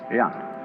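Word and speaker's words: jen: In Confucius philosophy, the fundamental virtue of a human being is called Yan, spelled J-E-N, for reasons best known to Chinese scholars. I don't know what they are, but it's pronounced Yan.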